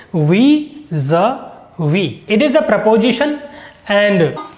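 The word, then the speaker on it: vis-à-vis: it is we we it is not WI a wi it is we Z we it is a preposition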